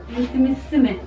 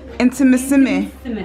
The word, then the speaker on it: Intimissimi: How do you pronounce the word very well? Do you know how to pronounce it? Intimissimi. Intimissimi. Exactly, I'm always pronouncing it wrong.